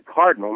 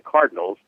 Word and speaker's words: Cardinal: It's the cardinal, not the Cardinals. It's the color, not the bird, basically.